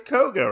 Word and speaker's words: Koga: we'll go with that thenk is it it's Koga right yeah it is kog kog the kog